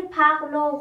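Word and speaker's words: pleurent: ان ت اضافه میکنم دقت کنید او انت ا انت نیست تلفظش ایل پغلوغ پغلق پغلق پغلق یه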